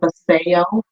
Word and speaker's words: Vasayo: information the name of the company is called Paseo and that is spelled b-a-s-a-y-o for sale so if you want